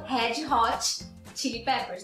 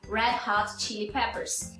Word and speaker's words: Red Hot Chili Peppers: Red Hot Chili Peppers, que a gente fala no Brasil Red Hot Chili Peppers, né? Mas na verdade é Red Hot, primeiro com retroflexo e segundo com um aspirado. Red Hot Chili Peppers.